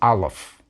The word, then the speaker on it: aleph: letter of el god this is a silent letter in the biblical period this letter was probably pronounced as something called a glottal stop a little bit like the sound in the middle of the word latin notice that we don't say latin we say latin nowadays aleph is not pronounced at all we're going to learn